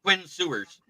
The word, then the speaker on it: Quinn Ewers: It's Quinn Sewers.